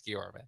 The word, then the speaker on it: Guillorme: Yeah, both pronunciations are fun, but the right one's Guillorme.